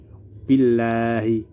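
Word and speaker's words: بِاللهِ: Tarqiq, kaidah dan cara bacanya: jika lafal Allah berada setelah huruf yang bertanda harokat kasroh, maka dibaca tipis atau tarqiq.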